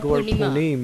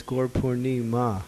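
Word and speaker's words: Gaura Purnima: It's instead of not Gaur Purnim, it's Gaur Purnima.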